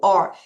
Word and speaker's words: hour: 한시간, 2두시간, 세시간 이거를 Hur 여러분, H 소리 안나요?